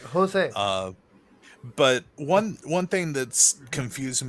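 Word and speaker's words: José: like Spanish, J is an H sound. Yeah. Like Jose.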